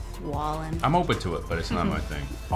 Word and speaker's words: Wallen: Not a Waylon? big country fan. Waylon. What? Wallen.